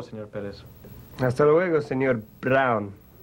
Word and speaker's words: Brown: Se pronuncia Brown. Oh, Brown. B-R-A-U-N. No, señor Pérez. Se deletrea B-R-O-W-N. Brown.